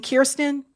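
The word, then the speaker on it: Kristen: Hey, that's what we call how you pronounce her first name. Kirsten.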